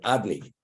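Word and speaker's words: Adonai: Allah Dalu Nun Yud, Adni, like master. That's the pronunciation. So that's Shmi L'Olam, La'aleim. My name, when you say my name, it should be concealed. It should be concealed. It should not be pronounced as it's written.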